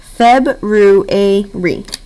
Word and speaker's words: February: But Miss Grace, it's not saying you. Well, which sound is it saying? The third sound, which is its second name.